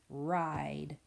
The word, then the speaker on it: ride: I can see that long vowel, silent E pattern. So we are going to write words with the long vowel, silent E pattern on the lines. I-D. We need that silent E. That silent E is the reason why that vowel is making the long I sound.